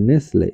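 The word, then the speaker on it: nestle: আবার নেসলে, এন ইএস টি এল ই, নেসলে অর্থ বাসা বাঁধা।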